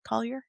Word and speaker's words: Collyer: Collier?